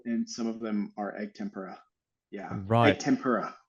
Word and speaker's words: egg tempera: you say I pronounce it yeah I I pronounce it egg tempera egg tempera okay yeah um you know I mean I